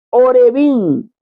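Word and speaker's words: עורבים: pronuncia Entonces por ejemplo la palabra hebrea puede pronunciarse orbin que significa Cuervo pero también se puede pronunciar arabí que significa árabe se escribe igual pero se pronuncian diferente Pero vamos a ver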